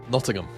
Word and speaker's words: Nottingham: at it how do you say this Jam Nottingham Nottingham there you go join us on March 1st and 2nd in nottingam where the lower bracket final and Grand Final will happen in Nottingham England in collab with Nottingham Trent University at